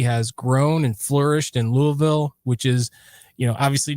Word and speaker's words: Louisville: But, Louisville, Louisville, you just kind of have to swallow the whole word.